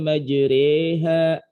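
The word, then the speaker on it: مجريها: Misalkan kemarin pada bacaan tulisannya kan majroha, kok dibacanya majreha gitu, rada miring-miring gitu.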